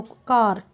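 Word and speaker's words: car: ही नहीं जाता, तो कार। सी है, सी को हम क्या बोलते हैं, तो के की साउंड है ये हमारी, कार, तो यहाँ तक ही आएगा। रे हमारा क्या रहता है, साइलेंट रहता है।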